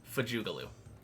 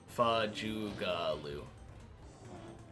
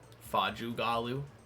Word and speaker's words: Fajugalu: Fajugalu. The A's are schwa sounds, like Fajugalu. But I wouldn't be upset if someone pronounced it with an Fajugalu. But feels more natural to me.